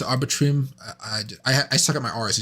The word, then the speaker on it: Arbitrum: Arbitrum. I suck at my R's, as you guys know. Arbitrum. Yeah, that's what arbitrage.